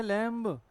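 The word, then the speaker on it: lamb: और क्या लिखा बम इन सब में क्या भी the letter B E silent यह अच्छा वर्ड है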